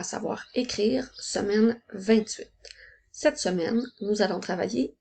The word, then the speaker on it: deux: maintenant avec le chiffre 2 qui s'écrit 2 attention le son eux s'écrit e U et X le X est en lettres muette rappelle-toi aussi qu'à partir